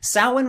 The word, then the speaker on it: Samhain: hello man every holiday halloween and yes it's pronounced sauwen despite that spelling sauhan was a seasonal holiday that was celebrated in